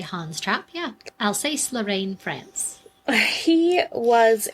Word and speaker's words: Hans Trap: Is that how you would pronounce it? I would say Hans Trap, yeah.